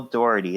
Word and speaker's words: Dougherty: And I did hear his name, Michael Dougherty.